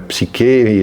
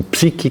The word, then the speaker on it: psique: Se você for freudiano, em vez disso, você tem que falar de psique. Também pronunciado errado, não é psiquê, sim psique, que dizem eh personalidade, eh interioridade, eh identidade, tudo termos.